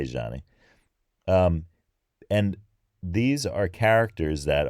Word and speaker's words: Zanni: of the characters are called Zanni or Zhanni Zhanni I think is probably closer I'm gonna say Zhanni and these are characters